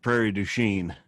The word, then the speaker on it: Prairie du Chien: in wisconsin called well it's spelled but it's pronounced prairie du chien you you know hang on you're professionally catching